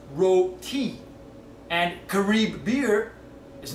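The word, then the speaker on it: roti: And Rody is not pronounced Rody, it's pronounced Ro-ti.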